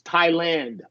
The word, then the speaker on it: Thailand: it's all the same The Only Exception is Thailand oh okay I didn't know okay that's the